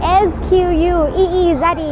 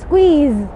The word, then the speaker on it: squeeze: วัสดีค่ะวันนี้อยู่ที่ Times Square นิวยอร์กซิตี้นะคะวันนี้จะมาสอนคำว่าสี่เหลี่ยมแล้วก็บีบค่ะสี่เหลี่ยมสะกดยังไง S Q U A R E แล้วก็คำว่าบีบคือ S Q U E E Z E นะคะออกเสียงแบบนี้นะคะสำหรับคำที่เป็นควบกล้ำ square square แล้วก็ squeeze squeeze S Q U ออกเสียงเป็นเซเกเวนะคะแล้วก็ตามด้วยเสียงสระค่ะอีกครั้งหนึ่งนะคะสี่เหลี่ยมจัตุรัส square บีบคั้น squeeze squeeze หวังว่าจะไม่ยากจนเกินไปนะคะ Don't forget to keep practicing.